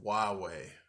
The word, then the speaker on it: Huawei: Um, KFC is partnering with Huawei.